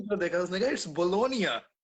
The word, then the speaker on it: Bologna: For example, अब मैं बोलोनिया में हूँ ना, इसको आता है अक्सर लोग मुझे। नहीं प्रोनाउंस करते हैं, बोलोगना, ठीक है। हाँ, अब ये तो गलत है।